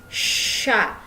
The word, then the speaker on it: chats: Dibacanya ce sont nos chats. Jadi C sama H itu dibacanya sh seperti huruf shod kalau bahasa Arab.